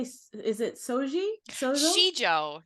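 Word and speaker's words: sijo: Shijo, Shijo.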